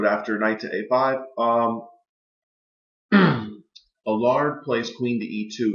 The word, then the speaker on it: Uwe: grand um world champion U is the way you pronounce his name EU UWE he played Bishop to